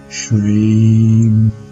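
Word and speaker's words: श्रीं: Once again, the vowel here is a long vowel, so her mantra is pronounced Shreem.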